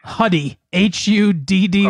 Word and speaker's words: Huddy: Huddy, Huddy.